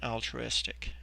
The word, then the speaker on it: altruistic: Now, if we look at this word, the way that it's pronounced, in the middle of it, it has the sound true.